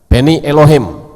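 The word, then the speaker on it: בני אלהים: Ya, anak Tuhan itu ini membacanya Beni Elohim, ya, Beni Elohim.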